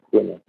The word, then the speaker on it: Kun: Kun, is it Kun is pronounced Kun.